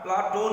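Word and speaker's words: Πλάτων: और उनका उपनाम प्लेटो शब्द का अर्थ चौड़ा चपटा, प्लेटो शब्द का यूनान उच्चारण प्लाटोन है, अरबी में इसी का विकृत रूप अफलातून है।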